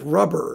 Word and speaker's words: Rubbra: And then there's Rubbra, Edmund Rubbra, who some person told me his name should be pronounced something like Rubber or something like that.